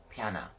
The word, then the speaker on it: Piyanah: I want to say her name correctly p-i-y-a-n-a-h piano the heroine she is of scarlet feather and